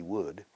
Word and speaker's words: would: Lo importante aquí es la L, es muda.